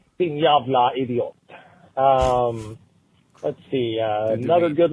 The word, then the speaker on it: jävla: the word, our word fuck, and when you pronounce it in Swedish, it is jävla.